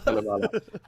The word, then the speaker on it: Kalevala: Kalevala. Might have to spell it for people here.